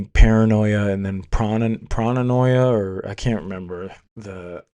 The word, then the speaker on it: pronoia: How do you say pronoia?